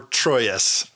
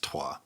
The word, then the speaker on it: Troyes: Or Troyes, as most people call it. But the correct pronunciation, I believe, is Troyes.